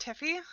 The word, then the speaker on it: Theophi: It's pronounced Tiffy.